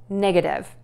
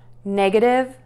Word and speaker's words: negative: Connect that to that schwa syllable, nega. And then we are going to end with div again, div, negative. Positive, negative. Positive, positive, positive. Negative, negative, negative.